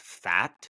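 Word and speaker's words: Pfaadt: Gallen, and I think his last name is pronounced Fat.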